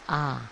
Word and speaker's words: Ah: So in Tibetan, when you recite Om Ah Hum, it's Ah, not O.